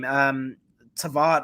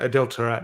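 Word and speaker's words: Adel Taarabt: Tavat or something like that. Having a mind blank. Anyway, he was the winger for. Yeah, Moroccan. Is it Moroccan? Adel Tarat.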